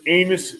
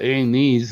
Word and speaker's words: anise: You said Norman's anus in chicken. Yeah. Not anus. You said Norman's anus. Yeah. Like, that? No. It worked. They call it anise, but all it is licorice.